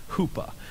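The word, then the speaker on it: chuppah: and it's called the Hoopa it is spelled c h u p p Ah but it is pronounced Hoopa a hoopa is basically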